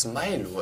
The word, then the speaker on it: Smilo: Es heißt Smilo. Es wird amerikanisch oder englisch oder wie auch immer ausgesprochen. Ich weiß gar nicht warum, aber es wird einfach so ausgesprochen.